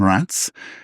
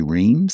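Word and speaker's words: Reims: Uh very one of the most famous names I think in the in the Champagne Appalachian based in Rance or if you're English you say reams.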